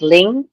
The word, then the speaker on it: Linh: It's actually pronounced as Ling, like Ling.